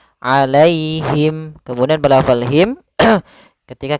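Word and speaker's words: عليهم: Alai itu ada ya sukun didahului dengan fathah, maka di sini kita namakan dengan bacaan lin, yaitu cara membacanya dengan bacaan yang lembut, alaihim, alaihim.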